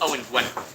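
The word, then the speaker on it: Owain Gwynedd: And yes, I was giving you the way he pronounced it because I'm trying to make a point. It's Owen Gwynedd.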